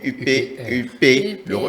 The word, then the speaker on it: UP le renouveau: non UP, ou bien UP, le renouveau, non pas UPA, mais le refus ça, UP le renouveau, c'est la bonne prononciation.